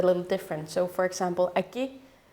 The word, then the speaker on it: Aki: think that is pronounced Aki because of the K but in Greenland a lot of the syllables are actually pronounced a little different so for example Aki the K is pronounced as a g so it's Matilda uh